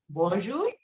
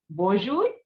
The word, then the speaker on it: bonjour: what did we just learn the common salutations bonjour repeat after me bonjour salute now we will study some of the